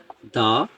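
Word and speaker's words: the: দ্য idea, দ্য idea, sorry দি idea হবে, যেহেতু এখানে কি আছে বাউল আছে, বাউলের আগে যদি দি বসে তাহলে, সরি দা বসে তাহলে এটাকে দি উচ্চারণ করতে হবে।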